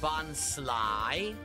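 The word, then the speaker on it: Bonsly: Oh, it's pronounced bonslai.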